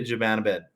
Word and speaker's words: Zibanejad: Is that the Canucks declined a 1-for-1 offer for JT Miller for Mika Zibanejad or Mika, whatever how you pronounce it.